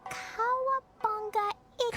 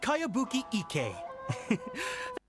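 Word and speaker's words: Kayabuki Ikkei: By Kawabunga Iki. Kawabunga. Yoimiya, this is a really strange name. Who's this Kawabunga? It's pronounced Kayabuki Ike.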